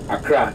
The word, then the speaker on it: Accra: And the Danish couldn't pronounce Nkran well, so it was corrupted to Accra, A-K-R-A. Yes, which over the years is spelled A-C-C-R-A, Accra.